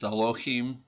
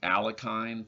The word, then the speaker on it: Alekhine: I think his name is actually pronounced Alochim. I think you might have to be Russian to know how to pronounce his name properly. We Americans have been saying Alekhine for a long time,